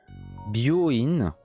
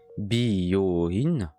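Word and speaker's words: 病院: Mais si tu dis ça à la place de bio-in, donc bio-in, c'est hôpital. Donc prononce bien si t'as le bras cassé. Voilà. Bio-in, bio-in.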